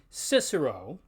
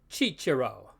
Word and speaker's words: Cicero: does in English so while English speakers normally call this fellow Cicero in Churchland we call him chichiro the letter G works